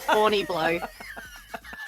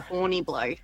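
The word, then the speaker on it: Horniblow: So I looked up the white pages and sure enough, Horny Blow. And is that how they pronounce it? Yeah. Yeah. Like literally H O R N I B L O W. Horny Blow.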